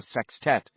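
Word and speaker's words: sextet: Club would become a sex tet, a word Richie liked a lot, always with the emphasis on the first syllable.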